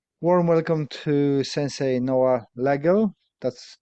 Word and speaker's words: Legel: welcome to Sensei Noah Lego that's how you pronounce your name because I always go with a hard G and I'm thinking am